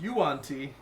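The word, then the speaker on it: yuan-ti: uh bard and warlock of danny trejo normally pronounced yuanti normally so i'm playing birdie birdie big bottom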